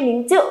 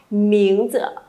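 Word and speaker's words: 名字: Miếng ờ các bạn đừng đọc là miếng chư hay miếng chữ nhá thì nó sẽ chưa được hay lắm. Đọc thanh nhẹ chuẩn hơn cho cô một xíu nào.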